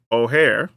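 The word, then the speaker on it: Ojer: another one of these as our pronunciation guide has taught us is oare uh but O'Hare Klim deepest growth five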